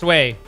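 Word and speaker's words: Oui: Pretty sure it's pronounced we? No. No. I speak fluent French. It's pronounced way.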